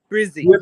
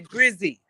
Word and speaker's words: Brizzy: Brizzy. Just say Brizzy. Be an Aussie. Brisbane. Cut it off short.